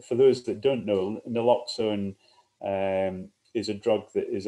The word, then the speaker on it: naloxone: There's a related question from Natalie, who asks about a news item today that the Scottish police will be carrying naloxone, that's how you pronounce it, the opioid blocking drug.